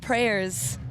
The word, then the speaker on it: PREYRS: Our prayers is spelled P R E Y R S.